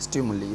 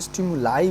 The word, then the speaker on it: stimuli: हर किसी का अपना अलग अलग प्रोनाउंसिएशन होता है। तो देखिए, स्टिमुली बोल सकते हैं, स्टिमुलाई बोल सकते हैं, और स्टिमुलस भी बोला जाता है।